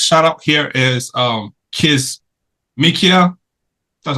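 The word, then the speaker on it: Kizzmekia: next our next shout out here is um kiss mikia that's how you say it K mikia Coober um is an American viral immunologist born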